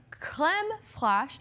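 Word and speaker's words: crème fraîche: So, the kit comes with a 1oz tin of McNugget Caviar, a $25 gift card, chicken McNuggets, Clem Flash, that's how you say it in French, and Mother of Pearl Spoon.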